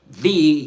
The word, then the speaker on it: the: was falling heavily because the word the you know t h e in English is pronounced as is pronounced with a schwah you know like like this the the when it's immediately followed by another consonants by a consonant let's put it that way.